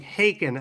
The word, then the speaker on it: Haken: It's pronounced like Haken, as in bacon.